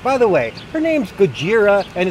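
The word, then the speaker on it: Gojira: anyway God Story by the way her name's goira and it's a girl but of course Americans come along they mispronounce the name they misunderstand her they shoot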